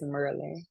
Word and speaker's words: Maryland: Let me get it right because y'all be trying to say it correctly, and that's not how you say it. It's Merlin.